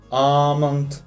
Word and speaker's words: almond: Обратите внимание, что буковка L в этом случае не читается, она просто исчезает, остается только звук A. Естественно, у нас будут такие слова, как palm, calm, almond и так далее.